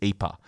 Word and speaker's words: Ieper: over there which is ipa so throughout this podcast you'll hear me refer to the town as ipa which is what the locals call it which is how it's